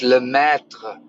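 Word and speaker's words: Lemaître: Yeah, you do need to pronounce the R, but not in an American English kind of way. It's like it's like you're stumbling over yourself, but you never fall down kind of pronunciation. It's an incomplete R pronunciation.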